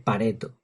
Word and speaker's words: Pareto: La verdad es que suena mucho, muchísimo mejor Pareto con dos t porque parece italiano, Pareto. Pero por mucho que me he empeñado en buscar a ver si la pronunciación era como yo había dicho, pues tengo que reconocer que no me equivoqué. es Pareto.